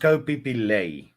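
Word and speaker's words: Ko Phi Phi Lay: Okay, it's pronounced Ko Pipilay.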